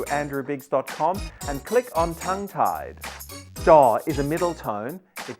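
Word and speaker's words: จะ: It's not ch. It's closer to a j or a j sound.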